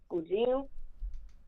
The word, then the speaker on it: pudim: It's called pudim. Okay. It's the greatest dessert of all time. But it's spelled P-U-D-I-M.